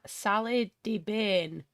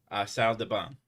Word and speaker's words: salle de bain: Salle de bain is how that's It's pronounced. not ban. It's salle de bain. Salle de what? Bain. Ba. But we're Not bain. ba. Bain. There's an N in there.